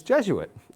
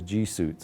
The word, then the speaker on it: Jesuit: I'd not had any Jesuit instructors up to that point I didn't what Jesuit was I thought it was gits actually is what it how you pronounce it and so I